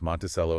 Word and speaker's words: Monticello: Monticello, that's pronounced Monticello, and St.